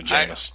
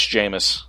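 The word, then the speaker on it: Jameis: you say that famous jamus is basically a good way to remember it rhymes with famous rapist jamus oh God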